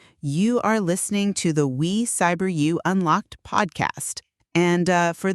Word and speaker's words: We Cyber You: You are listening to the We Cyber You Unlocked podcast. And uh for those keeping track of our pronunciation at home, that is W E Cyber You.